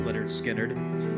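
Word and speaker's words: Lynyrd Skynyrd: a song by Leonard Skinner from their album Pronounced Leonard Skinnard 1973 called Tuesday's Gone written by guitarist Alan Collins, vocalist Ronnie Vanzant, produced by Al Cooper.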